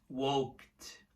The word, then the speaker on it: walked: Walked. Walked. Som de T, tá?